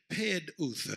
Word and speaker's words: peduth: Redeem is the Hebrew word peduth. It's spelled P-E-D-U-W-T-H, but it's pronounced P-E-D-O-O-T-H.